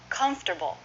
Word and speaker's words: comfortable: what you're comfortable with but comfortable three syllables first syllable stress comforter bull you might